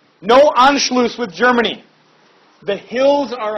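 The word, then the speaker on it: Anschluss: what is called anlo anlo a NS C HL it's called the sharp s in German it's like two s's put together into one letter no anlo with Germany the hills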